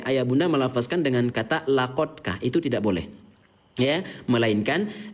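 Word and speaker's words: لقد: Tidak boleh ayah bunda melafazkan dengan kata laqadka, itu tidak boleh. Ya, melainkan laqadka, karena qalqalah artinya pantul, maka dal sukun pantulkan cara bacanya. Ya, laqad gitu. Jangan dibaca laqadka, nanti salah gitu ya.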